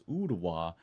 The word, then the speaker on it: Ooltewah: And I got roasted in the comments over the way I pronounced Ooltewah and Chattanooga. All right, now I know that's Ooltewah and Chattanooga, if you please.